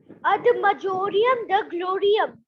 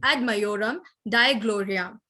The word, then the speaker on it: ad majorem Dei gloriam: Ad majorem de gloriam. Right. Okay, I'd like to correct the pronunciation, ad majorem Dei gloriam. So this is the right answer.